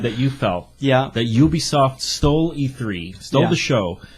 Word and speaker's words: Ubisoft: and then next isub Ubie yub not UB damn it Ubisoft Ubisoft Ubisoft Ubisoft you don't pick